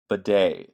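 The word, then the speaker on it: Badie: on your waiver um b day is how you pronounce it so Tyler baday I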